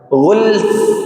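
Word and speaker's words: غلف: Bacanya sukun kedua-duanya. Ghulf. Ghulf. Ghulf. Jangan ghulf. Ada lanya tidak.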